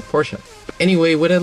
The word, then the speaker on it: Porsche: I'm here sitting in a 2003 Porsche Boxster. Now I'm going to be very careful and of course say it like it should be said. Porsche, not Porsche.